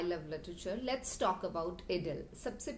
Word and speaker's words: idyll: Let's talk about इडिल। सबसे पहले इडिल का प्रोनंसिएशन आइडिल नहीं है, इडिल का प्रोनंसिएशन इडिल है। You should pronounce it इडिल।